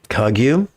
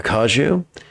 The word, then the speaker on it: Kagyu: I first learned dream yoga under the guidance of the Gelag, and then under the guidance of the Kagyu, or Kaju, depending on how you want to pronounce it.